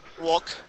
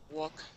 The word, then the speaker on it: walk: Walk, for example, you don't pronounce the L. Walk, castle.